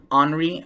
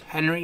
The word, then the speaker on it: Henri: I will be also briefly touching on tropical storm Henri. I think I was mispronouncing it yesterday. I was calling it Henry, but it's actually pronounced Henri.